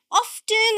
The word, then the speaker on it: often: Pronounce both the versions. Often, I just like to sit and read my novels in the evening. Often. Without a T. Now, with the T.